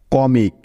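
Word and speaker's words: comic: এই শব্দটি থেকে আমরা পাচ্ছি প্রথমেই সি, তাই সি এর পরিবর্তে নিয়ে নিব ক। কারণ আমরা জানি যে সি এর পরে উ থাকলে সি এর উচ্চারণটা সবসময় ক হয়। সি এর পরে উ আছে, তাই নিতে হবে অ। কারণ খেয়াল করে দেখো যে এখানে উ এর পরে একটি কনসোনেন্ট আছে এম, এবং এই তিনটি বর্ণ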